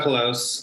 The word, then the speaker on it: Colose: you say your last name yeah uh close collapse okay um and what do you you